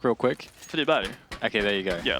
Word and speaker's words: Friberg: You can't, because yeah, everybody knows that we're saying Freiburg's name incorrectly, but try saying it with a Swedish pronunciation and see how nicely that flows off.